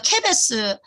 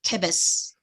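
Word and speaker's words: כֶּבֶשׂ: 아까 제가 케베스 아까 앞에서 케베스 요거가 양이잖아. 양의 쉬는 스예요. 왼쪽에 점이 있죠. 케베스 양이에요.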